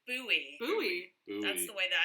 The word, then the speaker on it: Bowie: say buffet oh yes here's an example of a british homophone we pronounce this just as you would pronounce the word boy as in boy and girl bowie bowie that's the way